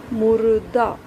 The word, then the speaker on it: मुर्दा: मुर्दा, र की जो ध्वनि है द से पहले आ रही है, मुर्दा।